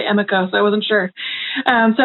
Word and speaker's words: Emiko: And one of the things I absorbed is how, I know some people say Emiko, I say Amiko, I'm not sure how you pronounce her name correctly.